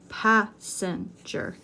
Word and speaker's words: passenger: train an interesting passenger passenger three syllables stress the first syllable passenger four you are